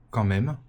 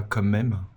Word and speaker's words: quand même: quand même après et non pas comme même hein quand même pas comme même ça se dit pas ça s'écrit pas voilà bref après avoir